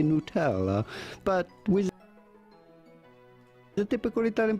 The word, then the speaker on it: Nutella: It's very clearly nut and it has nuts in it. It's Nutella.